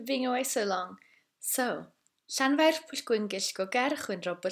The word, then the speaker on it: Llanfair: So we'll start slowly and simply with Llanfair. You need to roll the R as well, although if you speak quickly it won't be as important.